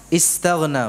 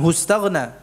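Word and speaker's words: استغنى: Ini kalau kita baca secara terpisah, istaghna, bukan hustaghna. Ya. Hu-nya ini nyambung dengan ra'ahu. Kalau kata terpisahnya apa? Istaghna. Kalau kita ingin mengutip kata ini, ya, kita mengucapkannya gimana? Istaghna. Ya, dengan hamzah wasal.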